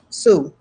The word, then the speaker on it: Sioux: And my heritage is African American, and my grandmother was Sioux, so Native American as well. So yeah, nice. I've just learned how to pronounce a word now.